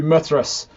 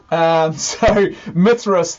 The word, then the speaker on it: Mithras: on down then to Mithras rhymes with myth Mithras this is one of